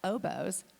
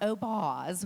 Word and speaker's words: Obos: to Boseman because our company is called obos outside plus Boseman it's not oos which we have to